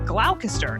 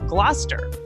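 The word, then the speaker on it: Gloucester: Like originally, I said glalcaster instead of Glouester.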